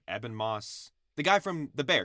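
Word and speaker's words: Ebon Moss-Bachrach: Eben Moss.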